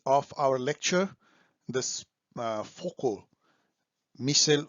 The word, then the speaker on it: Foucault: नाउ वी are entering to the part 3 ऑफ our lecture, this Foucault, Michel Foucault, right pronunciation, okay.